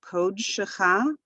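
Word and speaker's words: קָדְשְׁךָ: So kod shecha and kod sho. So the accent is not on the code, and it's a closed syllable. It ends with that with the consonant dalet and the shava together.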